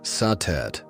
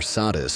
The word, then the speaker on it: Satet: Before the great names of Isis or Hathor filled the temples of Egypt, there was Satet, pronounced Satet or Satis by the Greeks.